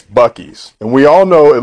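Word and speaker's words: Buc-ee's: so even though it looks like Beauties it's Bucky's and we all know it looks like Whataburger but it's pronounced Whataburger hey it's also it's not Heap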